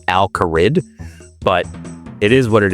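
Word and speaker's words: Al Kharid: I know I mispronounced Al-Kaharid. It's how I've said it since I was a kid, so it's what sticks. It's what my brain goes to. I know deep down that it is Al-Kaharid, but it is what it is.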